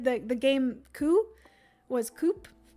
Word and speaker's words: Coup: the game coup was coup apparently the p is silent um okay so unfortunately